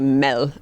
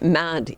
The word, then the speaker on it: mad: you're living in denmark you expect us to say mel which is the danish word for food but we say it mad even though we know the right pronunciation but what we're after is that feeling of mad in the english language that we're wildly passionate